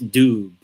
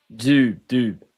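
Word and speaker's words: Dube: Not Jude Bellingham, it's Doob. Doob. That's how you say it.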